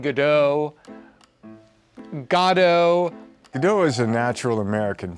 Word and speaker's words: Godot: of it, you know, Godo is in the text and has been played that way.